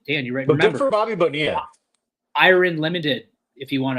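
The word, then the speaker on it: Bonilla: He was he was he was mentioning Bobby Bonia day, but he goes he goes Bobby Bonil. He goes, "How do you pronounce that?" And like Bickley had to be like Bonia.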